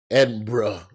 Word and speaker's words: Edinburgh: Bro, I land I land on Saturday in Edinburgh. Edinburgh, pardon me, cuz they That's how they say it.